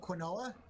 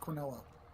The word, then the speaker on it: quinoa: I don't remember, but in the original language, it's pronounced quinoa. Quinoa. Interesting. With the original language and those letters, that's how it's pronounced.